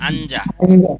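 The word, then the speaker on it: 앉아: আন্দা এখানে কি লেখাইছে এখানে আঞ্জা এখানে উচ্চারণ হবে আঞ্জা আর এখানে কি আঞ্জা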